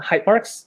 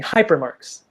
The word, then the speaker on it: Hypemarks: started with was called Hypemarks. It's spelled Hypemarks. And everybody, I kid you not, everybody was always saying hypermarks.